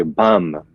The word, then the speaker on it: bam: or in Farsi, Dari, you would say bam, B-A-M, like Bam Bam from the Flintstones.